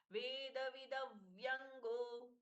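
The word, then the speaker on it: वेदविदव्यङ्गः: वेद विदव तो पहला जो द है वो पूर्ण है। वेद विद व्यंगो विद व्यंगो दूसरे द के साथ में व जोड़ना है। इसलिए ये भी पूर्ण है। तो एक भी द को आधा नहीं करना है।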